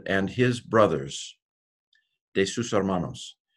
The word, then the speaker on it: hermanos: his brothers de sus hermanos I don't pronounce the H and his brothers and